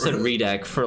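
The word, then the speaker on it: Reidak: It's spelled R-E-I-D-A-K. Right. English changes that actually, so I wouldn't know. It should be Ray though. It should be Raidak, right?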